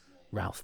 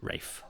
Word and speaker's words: Ralph: had a teacher who we thought was called Ralph but he pronounced it Rafe it's the same spelling it's Rafe fins isn't